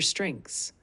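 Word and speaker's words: strengths: यानी what are your स्ट्रेंस इसे दोहराने की कोशिश करें व्हाट आर योर स्ट्रेंस ध्यान दे स्ट्रेंस में ईच का उच्चारण करना थोड़ा कठिन हो सकता है व्हाट आर योरस स्टें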